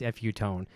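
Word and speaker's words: Fu-Tone: I always pronounce it FU, but I guess you know what it is. It's a darn Canadian thing. It is Futone.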